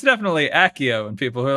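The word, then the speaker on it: Accio: I can tell you from Latin which I did take in high school that it would be if you're going by Latin rules a hard C cuz soft C's in Latin not a thing.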